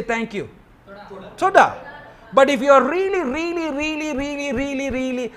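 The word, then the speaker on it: תודה: T-O-D-A-H, Toda. But if you're really, really, really, really grateful, you will say Toda Rabba.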